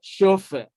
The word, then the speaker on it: chauffeur: Now, even though the letters here are CH, yet they have the same sound with the sound represented by the letters SH. So you have shining and you have chauffeur.